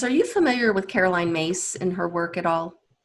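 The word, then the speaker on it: Myss: you familiar with caroline mace in her work at all i don't think i am okay caroline mace her last name is spelled m-y-s-s um but it's pronounced mace and i i follow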